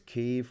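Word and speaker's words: Kyiv: the capital of ukraine pronounce kiev not kiev um fact fans because that's the ukrainian way of saying it is keeve whereas the russian way of saying it is kiev and uh we don't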